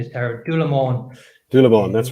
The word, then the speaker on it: Doherty: Because one of the first brands that you produced, and I have it here, is, and my pronunciation is terrible, Doherty. Doherty, that's right.